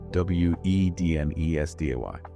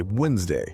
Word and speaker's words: Wednesday: Over hundreds of years, human speech became lazier and faster, and we stopped pronouncing the D. We just say Wednesday.